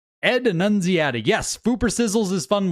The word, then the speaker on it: Annunziata: Ed Annunziata, I think is how you say it. Ed Annunziata.